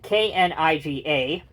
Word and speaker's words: Kniga: These are made by a company that makes resin models, spelled K-N-I-G-A, pronounced Kniga.